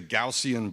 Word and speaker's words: Gaussian: So I actually just had to figure out how to pronounce this because I've been pronouncing it wrong for the past like 10 years. So this is the Gaussian blur.